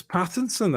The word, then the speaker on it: Pattinson: i never get them it's pattinson right it's that it's like this is no i'm um take that clip of everyone saying patents and paddington for five